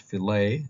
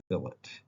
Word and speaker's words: fillet: restaurant you would order a fillet it's not pronounced filet it's pronounced fillet if you want french fries you order chips